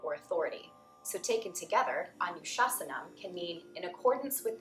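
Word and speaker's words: anuśāsanam: Yoga is pronounced yoga, but you already knew that. Anu is the next. Anu, anu, anu. Shasanam, shasanam, shasanam. So altogether, we have Atta, Yoga, Anushasanam.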